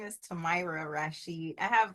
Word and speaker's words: Tamara: combination lock names where, I know you're probably a telemarketer if you call me Tamara or Tamara. So my name is Tamira.